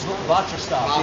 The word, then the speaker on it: BotriStop: Even so, you're like, oh, I'm spraying something, it's a little nerve-wracking, but Botristop, yeah. It's spelled like Botrytis with the stop at the end.